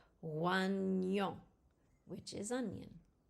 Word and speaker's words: oignon: GN is pronounced like the Ni in onion. It's a Ny sound. Oignon, which is onion.